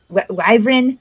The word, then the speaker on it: wyvern: Well, the way how it's pronounced, the way how it seems it's pronounced is Y, because it's got the W then Y. So like a Y then Fern.